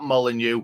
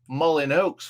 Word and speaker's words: Molineux: country to play wolves at molineux or mullin oaks for some people that um don't know how it's said it's 2 p.m it's